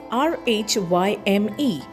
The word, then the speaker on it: rhyme: Next word we have is rhyme spelled as R H Y M E but we pronounce as rhyme. R I M E rhyme.